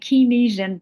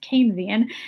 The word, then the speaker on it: Keynesian: It looks like Kynisian theory, right? It's pronounced Keynesian.